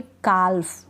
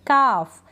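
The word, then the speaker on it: calf: के जैसे यहां पे काल्व काल्व नहीं पढ़ेंगे हम पढ़ेंगे काफ यहां पे एल का उच्चारण नहीं हो रहा एल क्या है यहां पर साइलेंट है काफ हाफ अब हाल्फ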